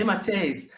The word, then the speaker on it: DeMatteis: I don't know how to pronounce his name. DeMatteis. DeMatteis. It's Italian. Yeah. That's right? Okay, Yes. DeMatteis.